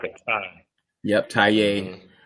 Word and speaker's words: Taye: get this right because I've been pronouncing your name wrong ta aru uh he is a documentary T like a Tai yep ta T Ru he is a documentarian